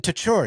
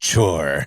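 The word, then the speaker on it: Tcure: a new legionnaire, the guy's like, "Oh, Captain Tour." And he's like, "It's not to. It's pronounced chore."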